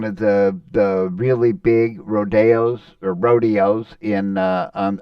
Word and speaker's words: rodeo: Uh Selenus Rodeo is uh one of the the really big rodeos or rodeos in uh on on the US circuit, but in Selenus it's pronounced Rodeo, the Spanish um um pronunciation instead of uh the more Americanized of rodeo.